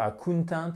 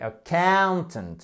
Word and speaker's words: accountant: Accentuation sur là aussi, sur la deuxième syllabe. C'est très important de ne pas dire accountant, mais accountant.